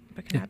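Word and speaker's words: Burkinabès: Burkinabes.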